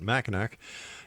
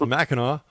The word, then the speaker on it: Mackinac: And once again, don't make that mistake I made by calling it machin. It's macho.